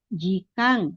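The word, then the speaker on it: 時間: Jikang. Ditulisnya jikaen tapi dibacanya jikang menjadi n sense sensei.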